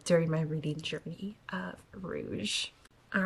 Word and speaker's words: Rouge: is next on my TBR and it is Rouge and my husband watches these videos and told me that I mispronounced this book in the last video and I said Rogue but I just want to point out if